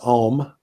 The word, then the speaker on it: Om: contemplative and meditative traditions that's typically pronounced ohm yeah so sometimes it's just home with a long Oh sometimes you'll hear the a a little bit and the you and at home it can be pronounced differently but yeah that's what we're